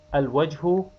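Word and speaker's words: الوجه: Al-wajhu, pronounced. Al-wajhu means the face.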